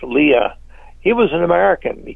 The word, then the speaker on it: Lea: And General Homer Lee, the last name was spelled Lea, so it would be pronounced Leah.